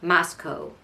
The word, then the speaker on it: Moscow: you can hear it Moscow not cow not moo no Co um if you live